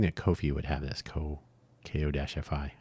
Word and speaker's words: Ko-fi: And it turns out that Buy Me a Coffee, I was hoping that Ko-fi would have this, Ko-fi. I pronounce it like that to emphasize that it's not coffee, but that's clearly what they're going for.